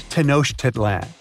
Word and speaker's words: Tenochtitlán: Okay, it's Tenochtitlán. And Mayan cities are hard to pronounce too.